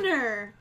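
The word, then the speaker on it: Mjölnir: All right, next up, we have Thor's Hammer, which I can never pronounce properly. So this is it. 303. It's Mjolnir.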